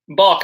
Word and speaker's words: Balch: uh pull it up Balch not bash my bad look man